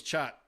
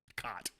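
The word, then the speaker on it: khat: Patrick said that the secret ingredient was chat. That's the way it's pronounced in Somalinga, not cot.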